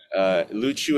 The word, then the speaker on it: Luchu: So Luchu, Luchu is the native pronunciation. In Chinese Mandarin, it's pronounced Lo Chou.